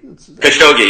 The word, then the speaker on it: Khashoggi: So the latest news is, and I'm not really good at pronouncing the victim's name here, Khashoggi. Khashoggi, yeah.